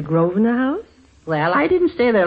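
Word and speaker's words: Grosvenor: say uh uh the grosner house sir shall we say it correctly and call it the groer house well I didn't stay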